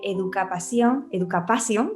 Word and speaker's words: Educapasión: Hola, hoy tengo la suerte de estar con Maque Salcedo, que es la autora de Educapasión, ¿no? Se pronuncia así, ¿verdad, Maque?